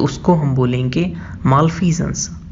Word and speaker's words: malfeasance: तो हम बोलेंगे मालफीजेंस। मेरे साथ रिपीट करिए, मालफीजेंस।